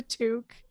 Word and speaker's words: toque: uh stock it and Arlene how did you pronounce this word for the thing you put on your head it's a toque I'm Canadian this is what we call no